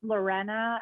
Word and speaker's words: Lorena: do i say it it's uh pronounced lorena and loren you want to be advanced it's lorena but no bonus points